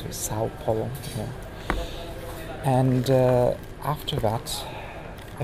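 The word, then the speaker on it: São Paulo: How do you pronounce it? Sao Paulo.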